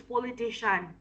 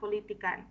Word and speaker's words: politician: the pronunciation come is politician, okay? It's politician, not politican. Okay, politician.